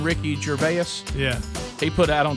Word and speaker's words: Ricky Gervais: Ricky Gervais.